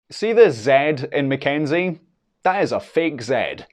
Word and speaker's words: Mackenzie: K or sea Kenneth when early Scotch writers attempted to then print ma Kik and preserve its pronunciation they used a y in the middle because that letter best represented the Y sound that you get in GAC but over time some printers started using a zed instead of the Y